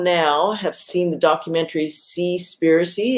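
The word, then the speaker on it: Seaspiracy: have seen the documentary see spiricy it's spelled s-e-a-s-p-i-r-a-c-y so basically the word conspiracy altered with the word conspiracy here actually we've done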